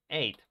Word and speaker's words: ate: and the past tense, ate, okay? Ate, like the number, okay? Like the number 8, exactly the same pronunciation, ate in the past.